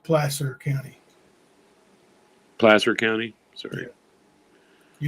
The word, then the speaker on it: Placer: I guess huh make those counterfeit bills it's pronounced Placer County Placer County sorry you know how it